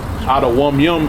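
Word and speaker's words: אדומים: Adawam Yum is Edomites. Yum at the end of a Hebrew word like Y-A-M. It's like it says Y. It's you would say it like it's Y-U-M. Yum, like something's good.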